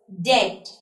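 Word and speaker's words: debt: bomb subtle and कॉम so when I am pronounce these of the words डेड आई am pronounce D ई बी टी as date I am pronounce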